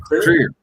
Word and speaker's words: Krier: you if you wish you could do a more Germanic pronunciation my last name clear we do it clear but that's fine I